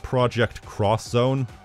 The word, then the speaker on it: Project X Zone: done they also have Project X zone which according to the wiki is pronounced project cross zone I'm not sure which